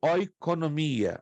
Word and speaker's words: oikonomia: A palavra economia vem de uma palavra grega, é como eu estou pronunciando, oiko, O-I-K-O, N-O-M-I-A, oikonomia.